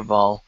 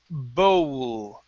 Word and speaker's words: bowl: words here okay so this sound instead of ball it's bowl bowl a bigger bowl a